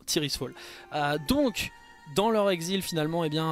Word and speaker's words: Tirisfal: Vous comprenez pourquoi maintenant on appelle ça Tyr's Fall. Donc, prononcez idéalement Tyr's Fall.